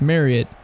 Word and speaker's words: Marriott: No, it's Marriott. Rhymes with Elliott.